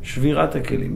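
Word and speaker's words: שבירת הכלים: Shevirat HaKalim? Yeah. Shattering of the vessel. Yes. Did I say it right? Shvirat HaKalim, yeah.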